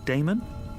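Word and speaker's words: Daemon: How do you pronounce that? Damon, if you prefer.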